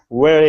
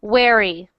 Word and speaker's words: very: Victoria is very happy. Say try it again. Victoria is very happy. You said weary. Very. Try to say very. Victoria is very happy. Very. Good. So practice that V sound.